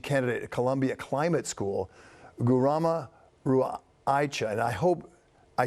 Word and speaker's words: Garima Raheja: That's PhD candidate at Columbia Climate School, Garima Raheja, and I hope I spelled that right. I said it right, did I? You're pretty close. My name is Garima Raheja.